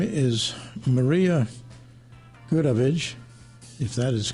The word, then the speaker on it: Goodavage: Her name is Maria Goodavage, if that is correct. Is that correct? That's pretty good. Pretty good. Okay. Because it's French, I would have pronounced it Goodavage. But I like that better.